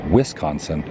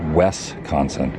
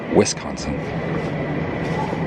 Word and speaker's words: Wisconsin: collided was close and evidently it's pronounced Wisconsin not westconsin you don't want to say westconsin Wisconsin Wisconsin that's my pony right